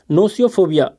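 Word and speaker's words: gnosiophobia: Next है आपका नोसियोफोबिया। यहाँ पर जी जो है आपका साइलेंट है।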